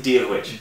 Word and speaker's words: Dia dhuit: Díolwich. Díolwich. Yeah, that's okay. Do you want to know how to spell that?